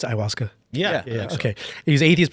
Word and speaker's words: ayahuasca: He was atheist before he did it, and is that how you pronounce it, ayahuasca?